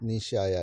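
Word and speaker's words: 西漢: 그걸 아야라고 읽는데 앞에다가 동을 붙여서 히가시아야 그리고 서를 붙여서 니시아야 이렇게 하는데 그 아야 씨가 했던 일들은 엄청납니다.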